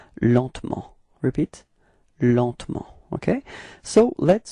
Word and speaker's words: lentement: Lentement. Okay. And then, well, usually in France we don't really pronounce this E between T and M, so we get this pronunciation lentement.